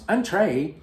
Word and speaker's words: entrée: Entrée in French means appetizer, but you use the word entrée in French, which you pronounce entrée, meaning main course.